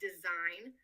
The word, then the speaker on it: design: So take the word design that when spelled out in English has a silent G. An Arabic speaker may have trouble pronouncing this word as they do not understand the concept of silent letters and may pronounce the G.